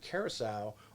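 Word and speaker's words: Curaçao: a great diving spot bonaire and if i pronounce it right curacao are sister islands of aruba so that that's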